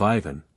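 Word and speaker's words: Иван: from the chernof government the accent falls on the second syllable of Ivan on the first of poof once upon a time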